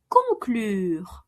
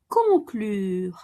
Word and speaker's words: conclure: Conclure. Conclure. To conclude like in to conclude a deal. Conclure un accord.